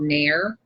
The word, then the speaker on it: NAEIR: Not only do we still use laminators, we have, I have one that I got from this company called Nair, and they had them.